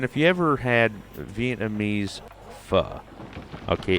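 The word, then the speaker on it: phở: And then if you ever had Vietnamese pho, okay, it's PHO, but in Vietnamese it's actually pronounced pho.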